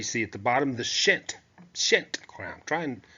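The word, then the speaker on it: pschent: at the bottom the shint shint try and trying to sort of quietly pronounce that p which combine the red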